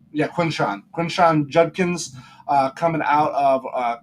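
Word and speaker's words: Quinshon: Yeah, Quinshawn.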